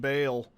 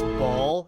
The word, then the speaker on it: Baal: You vanquished Bale. Or as the people that want to be difficult say, actually it's ball. Actually, it's not.